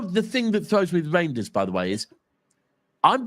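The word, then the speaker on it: Reijnders: I was told by by somebody Dutch saying it's Reinders. Uh the court told me to say reindeers. Yeah, the pronunciation is reindeers. Right. Okay. So, reindeers.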